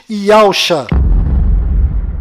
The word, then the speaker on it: Yahusha: A pronúncia do nome de Josué deve ser Yahushua, e a pronúncia do nome do Messias é certamente Yahusha.